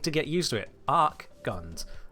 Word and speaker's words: Archgun: Archguns. The H is silent.